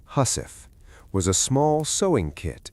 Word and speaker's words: housewife: The housewife, pronounced husf, was a small sewing kit every sailor carried.